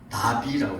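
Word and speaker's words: נביא: 성경에서 말하는 예언자를 뭐라고 얘기하냐면 나비라고 그래요. 나비. 재밌죠? 나비. 우리말로 하면 훌훌 날아다니는 나비, 호랑나비, 그런 그 나비라고 얘기하는데 우리 발음은 똑같아요.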